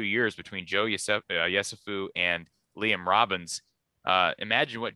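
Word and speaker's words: Yesufu: Joe Yusefu from, or am I pronouncing that right? Yusefu.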